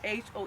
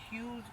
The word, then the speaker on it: Hoens: They pronounce it huge and it's H O E N S. So for me I say Hoen's greenhouse but it's Hughes greenhouse.